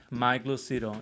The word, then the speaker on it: Lucido: have another guest super interesting and talented guy mike lucido is that how you pronounce it yeah i'm like there you go